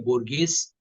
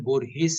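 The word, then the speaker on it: Borges: उसका उच्चारण पहा है फिर हम बोरस बोलते ता है बोरगेस लेकिन उसका उच्चारण बोर हेस है इन बड़े लोगों के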